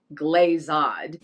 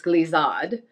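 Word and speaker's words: glissade: them but it is definitely not glazod glazad it's glisad in cortada he almost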